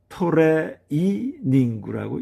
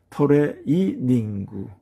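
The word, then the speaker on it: トレーニング: 그래서 토레 이닝구라고 읽는 것입니다. 토레 이닝구 요것은 예의 사항이라고 그렇게 알아두시면 되겠습니다.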